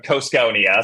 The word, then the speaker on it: Cosconia: Okay, it's a teensy bit different. So, author of The Mid Wizard of Coneia. So, that's how I pronounce it. And fun fact, that is derived from Cusco.